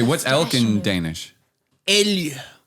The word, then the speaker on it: elg: Elg. Elg. And how do you spell that?